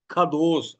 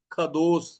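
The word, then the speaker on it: qadosh: ख दोस आप हिंदी में लिख के रखिएगा ख दोस अंग्रेजी लिखना चाहते हो मैं कह देता हूं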